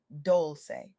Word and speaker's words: Dolce: I'm your host, Dolce, pronounced Dolce, like sweet softness whispered in French.